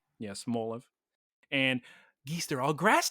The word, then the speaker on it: Smoliv: Bound Sweet and a Smoliv spelled cutely, as the kids would enjoy. Smoliv, like small. Like look at the small friend. Yeah, Smoliv.